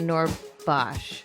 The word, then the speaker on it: Noorbakhsh: We have our favorite Iranian-American Muslim comedian, Noorbakhsh.